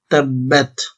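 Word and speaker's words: تَبَّتْ: সহজে শিখতে পারবেন জবরদ এখানে অক্ষরটি দুইবার উচ্চারণ হচ্ছে জজমওয়ালা অক্ষরটি একবার উচ্চারণ হবে তাব্বাত তাব একবার উচ্চারণ হচ্ছে বা তা জবর বাত আরেকবার বা তার সাথে উচ্চারণ হচ্ছে তাব্বাত ইয়া জবর ইয়া হরকতের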